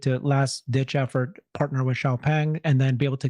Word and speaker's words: Xiaopeng: Xiaopeng? Xiaopeng, yes. You pronounce it?